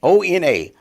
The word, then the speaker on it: Ona: we would really really say your name so o-n-a how do you pronounce owner yes Ona owner